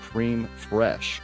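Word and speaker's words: crème fraîche: It's pronounced cream fresh.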